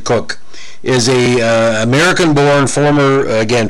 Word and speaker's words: Koch: them but karen cook in canada some of the pronunciation is uh koch but she pronounces it cook is a american-born former